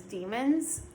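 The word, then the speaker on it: daemon: like a d-a-e-m-o-n um it might be pronounced demon but it's spelled like damon and it's not the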